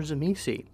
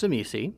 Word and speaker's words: Tzimisce: And last but not least, we come to Ryan, who plays our Tzimisce. And yes, that is how I pronounce Tzimisce. That's just how it's done on this podcast.